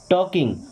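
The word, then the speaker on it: talking: नॉट, not means नहीं, टॉकिंग, अब टॉक का मतलब होता है बात करना, तो टॉकिंग मीन्स बात कर रहे, ध्यान रखिए यहाँ पे एल साइलेंट।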